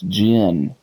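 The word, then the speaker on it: djinn: no guy it's it's gin d j i n n d is silent anyway I'm gonna run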